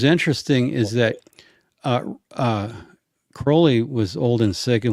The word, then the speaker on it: Crowley: you know was a disciple of Crowley it's pronounced Crowley alist Cy I didn't know that okay good